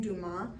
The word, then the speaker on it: Dumas: So number 1 is asking, in which country was Firoozeh Dumas, and that's how you say her name, Dumas, which country was she born in?